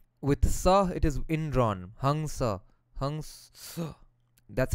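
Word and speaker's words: हंस: Hamsa. That's how it's supposed to be pronounced.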